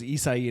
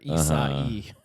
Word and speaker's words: Isai: But his name was Isai and it's 4 letters, but it's like such harsh like switches between the letters. You pronounce like every letter. Isai.